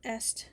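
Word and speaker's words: Aset: But Est is the Egyptian pronunciation of what or who we commonly know as Isis.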